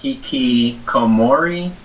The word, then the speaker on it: hikikomori: They went to flashback, and it shows how Sato has always been hikikomori.